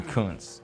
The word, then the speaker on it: Kuntz: Well, Rusty Kuntz is a guy whose name might be pronounced something differently, but he was a famous baseball player from the mid-'80s. He has a comical name that could be mispronounced in a certain way.